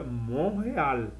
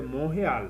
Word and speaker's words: Montréal: Ficou em Montreal. Aqui um detalhe, que Montreal, em português é Montreal, em inglês, em francês, eu separo, é mon, palavra aqui sozinha, eu leio mon, e essa aqui, eu leio real.